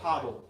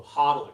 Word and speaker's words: HODL: Or what do they pronounce a quad or do they just spell it out? Hodddle. Oh, hodle.